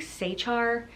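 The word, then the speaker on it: Sachar: that's Holes by Louis I think Sechar is how you pronounce their name and that one was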